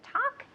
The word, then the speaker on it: talk: think so no okay remember with the verb talk and walk the L is completely silent okay we don't pronounce it talk and walk okay now I'm going